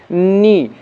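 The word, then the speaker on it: know: একইভাবে নো, কে এন ও ডাব্লিউ, কিন্তু এখানে কিন্তু কে এর উচ্চারণ নেই।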